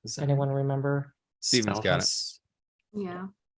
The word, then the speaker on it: Spellhaus: Spellhouse. Yeah. It's spelled with German too. It's Spellhaus, which I think is really interesting.